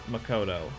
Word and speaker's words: Makoto: Because Celeste always says Makoto. It's Makoto. Oh, it is Makoto? Okay. Celeste says Makoto, Makoto. but everyone else says Makoto.